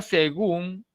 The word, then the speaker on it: según: La palabra según es aguda no porque tenga tilde, ¿de acuerdo? No es aguda porque tiene tilde. Es aguda porque la mayor fuerza de voz se ubica en la última sílaba, ¿sí?